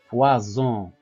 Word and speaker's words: poison: I et le O, donc le S mis entre deux voyelles, il se prononce Z, poison.